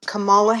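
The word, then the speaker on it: Kamala: Um, now when Camela Harris I I'm apologize. I do think I said her name wrong. Camala Harris. She used to just be Camela in California. Then they like got all Camala.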